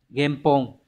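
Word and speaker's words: 原本: Từ này đọc là game. Game Pong.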